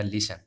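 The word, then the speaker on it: listen: इसी प्रकार से ये देखो टी साइलेंट रहेगा, ये क्या हो जाएगा, लिसन। क्या हो जाएगा, लिसन, लीशन।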